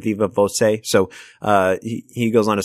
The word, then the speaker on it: viva voce: in the second category, so thank you, viva voce, instead of viva voce, as I said.